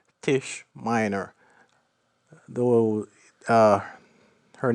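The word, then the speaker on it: Taije: read the novel but this character is called Tish Miner though uh her name is spelled t-a-i-j-e uh long story for that one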